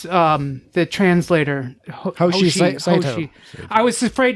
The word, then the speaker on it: Hoshi: I was like, is it Hoshi or Toshi? And it was like, it's Hoshi, and I don't know why I was scared to say it.